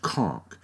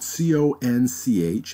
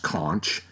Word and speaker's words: conch: you know it's pronounced conch and even though it's spelt co n CH and many people would think it should be pronounced conch it's not it's more pronounced like KO NK conch and again it's an